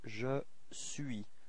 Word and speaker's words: je suis: So first form for je, it's je suis. So you can notice that the final S is not pronounced.